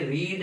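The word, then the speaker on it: read: अब ये रीड है, इसकी फर्स्ट फॉर्म को जो है ना स्पेलिंग यही रहेंगे, लेकिन जो है उसका तलफ़्फ़ुज़ जो है प्रोनाउंसिएशन उसको ऐसे पढ़ना है, रीड रेड रेड।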